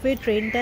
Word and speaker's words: Toronto: এইবার চলুন আপনাদের ক্যানাডায় সাব ট্রেনটা দেখাই। আমিও প্রথমবার টরন্টো সাবতে ট্রাভেল করব। এই জার্নিতে এখন অনেক এক্সাইটমেন্ট রয়েছে। আরেকটা জিনিস হলো এখানে টরন্টোকে সবাই টরো প্রোনাউন্স করে।